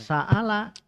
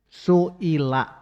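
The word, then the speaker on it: سُئِل: Bukan saala tapi I. Kalau I berarti apa bacanya? Suila.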